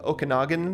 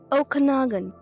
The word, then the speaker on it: Okanagan: I did a little more research and I learned that Kelowna means grizzly bear in the Okanagan language. Excuse the pronunciation, I'm sure. Okanagan.